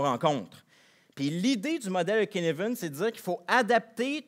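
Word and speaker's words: Cynefin: le modèle de kinevenen ça s'écrit cinefin mais ça se prononce kinevenen ok c'est un nom danois si je me souviens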